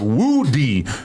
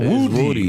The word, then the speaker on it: Woody: makes me think of Woody we've all been saying his name wrong for all these years yeah w say Wy what yl Woody it's not woody it's Woody there little Woody I learned